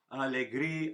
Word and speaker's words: alegría: So alegría, alegría, alegría, alegría, alegría y placer. Okay. Except when we sing them, the A's elide, so it sounds more like alegría, alegría, alegría, alegría, alegría y placer.